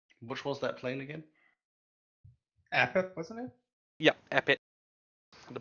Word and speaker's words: Apep: Like a pit, Armpit? but one word. A pep. A pit. Armpit. Okay. It's like Yep. a pep rally, but without rally. A pep.